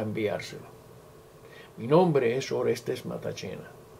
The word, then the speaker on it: Matacena: Mi nombre es Orestes Matachena. Como podrán ver, se escribe de otra manera, pero se pronuncia así, Matachena. Es un apellido italiano.